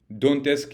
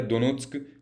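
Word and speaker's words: Донецьк: कहते हैं, ठीक है, डोनेट्स्क या दोनेत्स्क जैसे भी आप प्रोनाउंस करें, ठीक है, लुशांक या लुंगांस्क।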